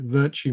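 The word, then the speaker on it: Vertu: also mention virtue that i pronounce it virtue motors it's a um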